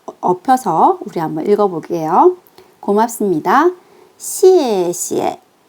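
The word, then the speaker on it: 谢谢: C 뒤에 E는 에 소리가 납니다.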